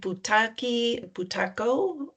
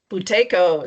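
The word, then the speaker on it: Buteyko: She is a qualified mindfulnessbased stress reduction teacher, a certified bhutaki bhaco. Am I saying it right? Mindy boutaco. Boutco, sorry.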